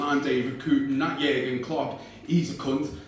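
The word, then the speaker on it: Jürgen: David Coote, and that Jurgen Klopp, he's a cunt. Not just a cunt, a German cunt, but he said it without like a hard G in there as well.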